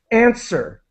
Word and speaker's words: answer: wanted to help with answer the W is completely silent and the end of the word really ends with sir uh like when you're